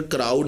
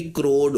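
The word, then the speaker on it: crowed: आप बोलेंगे द बॉय क्राउड into, क्रोड इन, बल्कि इसकी प्रोनाउंसिएशन क्राउड नहीं होगी, इसकी प्रोनाउंसिएशन क्या होगी, क्रोड होगी, क्योंकि वर्ड क्रो से है।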